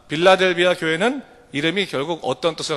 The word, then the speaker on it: 필라델피아: 다 할 수 있습니다 빌라델비아 는 원래 본 발음은 여러분 자라 3 필라델피아 합니다 이 도시는 원래 휠라